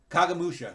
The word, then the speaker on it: Kagemusha: How do you pronounce Kagemusha? Kagamusha, that's right.